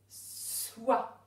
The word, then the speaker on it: soit: Soit. Alors dans soit, on entend s et oua.